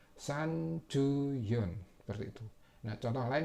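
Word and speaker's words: 三十四: Jadi bacanya san ju yon, seperti itu.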